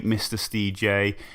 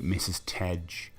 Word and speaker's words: Mr. Stj: Yeah, that's how you pronounce Mr. Stj, by the way, because I know a few people have tried to call me Mrs. Tej or Mr. Stage. No, it's Mr. Stj.